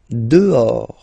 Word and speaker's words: dehors: Dehors. Okay, so remember, final S not pronounced, and then this H. In French, doesn't exist phonetically, so you don't pronounce it.